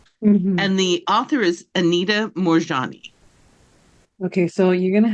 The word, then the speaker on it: Anita: And the author is Anita Morjani.